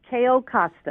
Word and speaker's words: Cayo Costa: How do you pronounce? Is it Cayo? How do you Costa. say it again? Cayo Costa.